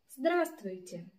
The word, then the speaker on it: здравствуйте: As for pronunciation of здравствуйте, pay attention to Russian R. It's not like English, but like Italian or Spanish, it's more intense.